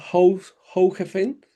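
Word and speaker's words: Hoogeveen: En una ciudad que se llama Hfen, que se pronuncia así en holandés.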